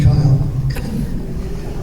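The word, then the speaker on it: Keil: It is pronounced Kyle. Seguin Mayor Don Kyle. I before E except after K.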